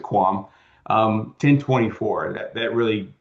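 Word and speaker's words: QAM: It's it's a lot of words, so we just use we pronounce it quam.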